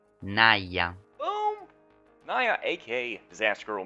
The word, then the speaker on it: Naya: And just to make sure I'm saying it right, Naya.